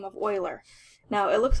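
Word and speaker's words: Euler: uh Swiss mathematician by the last name of Oiler now it looks like uler but his name is actually pronounced Oiler so Oiler got um word of what these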